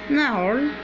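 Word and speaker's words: gnarl: نارل.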